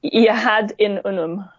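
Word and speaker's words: Yahad-In Unum: Rebecca, help me with the pronunciation of this organization. Yahad in Unum.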